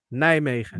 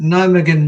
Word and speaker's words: Nijmegen: Nijmegen. Nijmegen March.